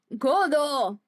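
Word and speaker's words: Godot: Diego Armando Godo. The T is silent.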